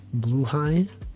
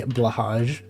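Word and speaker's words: Blåhaj: thing mental health shark blue high that's that's how you pronounce that word by the way pronounce a blue high some people may say blahaj it's not blage blue yeah it's um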